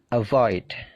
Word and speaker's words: avoid: Avoid. Become. Begin. Jadi perhatikan stressingnya. Stressingnya punyanya come, punyanya gain, punyanya leave. Jadi stressingnya itu di suara yang kedua.